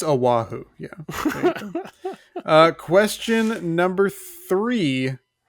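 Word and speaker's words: Oʻahu: Aahu. No, it's it's Aahu.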